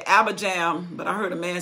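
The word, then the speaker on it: Abijam: name right i say abba jam but i heard a man says abraham they don't pronounce the j like we do it in the western world i'll be home so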